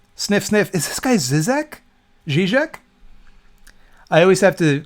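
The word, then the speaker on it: Žižek: I always have to correct myself because I read it as Zizek 10 times out of 10. And then I have to remind myself, no, you do know how to pronounce that word. It's Zizek.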